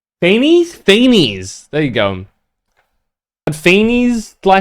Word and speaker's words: Fanes: Dude, the more I see of this, the more I am adamant that Fanes or wait, how is it pronounced? Fanes.